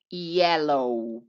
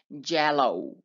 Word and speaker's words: yellow: y juntas amarillo y yellow sí aquí la y suena como si fuera una y yellow por fa evita pronunciar hello rojo es la red